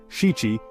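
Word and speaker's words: 七: On the flip side, the number 7, or shichi, is considered lucky, associated with celebrations like the Shichi-Go-San festival, which honors the growth of young children.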